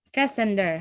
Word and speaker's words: Cassander: Nah, terus tanduk yang pertamanya, raja pertamanya itu adalah Cassander, gitu ya bacanya. Cassander, betul.